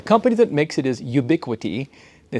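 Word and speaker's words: Ubiquiti: right so the company that makes it is ubiquity they spell it all funky Ubi q-u-i-t-i and then the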